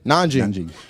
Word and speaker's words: Nanjing: Nanjing.